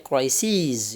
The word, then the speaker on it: crises: Kalau bentuk tunggalnya kita baca crisis, kalau jamaknya crises ya, bentuk s.